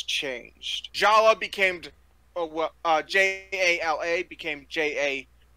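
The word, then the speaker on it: Jaller: of why the names changed Jala became uh j-a-l-a became j-a-l-l-e-r it's still pronounced Jala which looks like jawler for some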